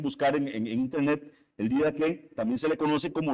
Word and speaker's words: Didaché: importancia por su antigüedad que se llama el Dqué o se escribe didaché, ¿verdad? Si lo quieren buscar en en internet, el Didaque también se le conoce como las enseñanzas de los 12 apóstoles.